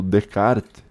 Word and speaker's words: Descartes: o filósofo francês chamado descarte falava Ah eu já li Descartes pelo amor de Deus nunca pronuncie o s no final do nome do Descartes o s é mudo cara Eu já li